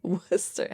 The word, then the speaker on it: Worcester: Worcester is the one that's going to throw you. Worcester. How do you spell that again?